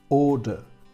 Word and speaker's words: order: Order, order. Fijaos que esa O primera va seguida por una R y lo que hace es alargar su sonido.